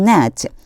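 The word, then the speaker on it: gnat: 그러면 이집트 땅 도처에 the dust will become net요 net라고 하는 단어 봐 주세요. 앞에 있는 g가 발음이 안 나요. 그래서 net 이렇게 발음해 주셔야 돼요.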